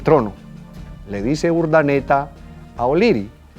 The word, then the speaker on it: O'Leary: Y luego dijeron, entre O'Leary, u Oleari, como otros pronuncian, y Rafael Urdaneta, se pusieron de acuerdo de que no.